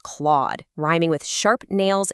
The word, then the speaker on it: Clawd: The token is pronounced clawed, rhyming with sharp nails, exactly like an animal that just clawed something.